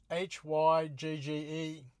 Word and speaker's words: hygge: may not be entirely correct, but the word is spelt Hygge.